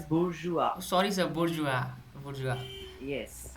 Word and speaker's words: bourgeois: were increased, and the burgese means I middle would class just people. like to interrupt once, Lalit. Yeah. That is pronounced as bourgeois.